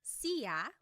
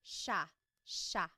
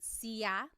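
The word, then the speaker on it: siya: It looks like it should be pronounced sa, but it's actually pronounced sha sha. There are some regions in the Philippines that might pronounce it sa but for the most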